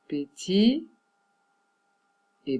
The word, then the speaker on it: petite: Pour les féminins de ces noms ou de ces adjectifs, les T, il faut le prononcer.